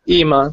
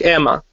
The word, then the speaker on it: EMA: me here um Stefan is it EMA or IMA how do you pronounce it is there imma like no it's like Emma Emma Emma Emma why